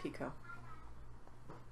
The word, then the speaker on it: Picoult: needs to know that I'm pretty sure that's pronounced picot Jodi Picoult are you sure